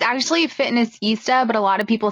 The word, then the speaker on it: Fitnessista: I feel dumb saying Sista. So I really like Fitnessista.